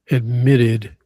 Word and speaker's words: admitted: Take a look at that word admitted. Stress is on the second syllable.